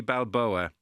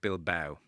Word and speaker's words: Balboa: when only yesterday Joe you pronounced Rocky Balboa like athletic bill Bao regard Keen.